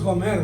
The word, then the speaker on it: Gomer: Yo creo que es Gomer, ¿verdad? Acento prosódico, no ortográfico, pero acento prosódico en la última sílaba.